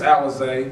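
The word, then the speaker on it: Alize: I don't know how to say his name, Alonzo Johnson? What did he present to you guys? Yes, Alizé.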